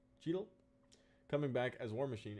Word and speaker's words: Cheadle: pronounce his last name i've been told chadel is wrong so don cheadle cheadle coming back as war